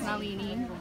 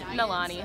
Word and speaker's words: Nalani: That's Nalini. That's Liza. Wait, did I say it right? How did I say it? No. Okay. How is it? Nalani. Nalani, okay.